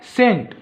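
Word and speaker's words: scent: यहां पे क्या है सेंट देखो यहां पे जो सी वर्ड है ना ये साइलेंट होता है ये सेंट होता है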